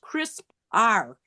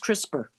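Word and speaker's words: CRISPR: That's and it's pronounced crisper although I thought it was pronounced crisp R in the I don't know why I thought it was but it is pronounced crisper like with an eer.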